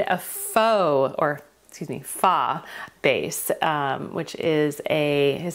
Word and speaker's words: pho: then I made a faux or excuse me fa base um which is a is it Korean I think it's a Korean soup I would say fox pH but it's pronounced fa I actually made four